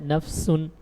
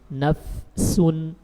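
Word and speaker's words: نفس: Ketika sukun, fa ini sering hilang. Apalagi kalau bertemu dengan huruf-huruf yang jauh makhrajnya dengan bibir. Seperti membaca ya ayyatuhan nafsul mutmainnah, nafsun. Nah ini sering nafsun, orang langsung baca nafsun. Ini tidak tepat. Tapi harus disempurnakan dulu huruf fa sukunnya, nafsun.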